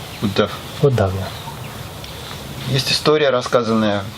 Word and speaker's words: Uddhav: How would you pronounce the name? Uddhav. Uddhav.